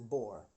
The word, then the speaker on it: Boer: O3 Boer locomotives anyway the name Boer which I have pronounced in French the French accent it's actually the bore from the bore War so because when these